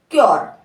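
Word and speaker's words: cure: श्यर पढ़ना है श्यर सी आर को पूरे नहीं क्यर ठीक है क्यर तो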